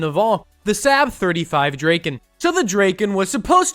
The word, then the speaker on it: Draken: I think it's pronounced Draken. It's actually pronounced Draken.